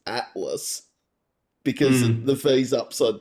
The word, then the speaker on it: ATLVS: I've noticed there's a couple of bands here in Australia that the upside down V is actually an A. Like I can think of one out of my neck of the woods called Atlas, where it's ATLVS, but Yep.